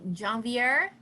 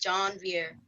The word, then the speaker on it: Jean-Vier: My name is pronounced John Vier.